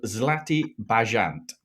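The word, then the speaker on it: Zlatý bažant: a podcast recording um I've had some pronunciation guidance from my wife it's called zatti bant which means golden pheasant oh perfect and I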